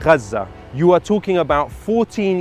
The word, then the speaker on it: Gaza: killed were already yes gaza is the is the actual pronunciation but like i mean